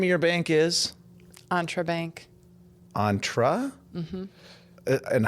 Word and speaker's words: Entre: you still do it entra or you you pronounce it entra because it's short for entrepreneur I get it I